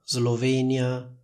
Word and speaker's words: Slovenia: regola scritta per cui la s seguita da l si pronuncia Z per esempio in italiano diciamo Slovacchia Slovenia Islanda Oslo lingue slave come vedete in tutte queste parole c'è la combinazione s + l che viene pronunciata con una s sonora simile a quella delle parole rosa e riso Comunque sia lo stesso